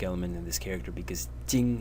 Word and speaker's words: 經: in this character because Jing is the pronunciation of the character as a whole and Jing is the pronunciation of